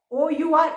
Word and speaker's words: hour: HOUR, है ना, spelling भले एच से स्टार्ट हो रही है, बट साउंड किसका आ रहा है? OUR, आर वाला साउंड आ रहा है, तो हम इसके आगे क्या लगाएंगे?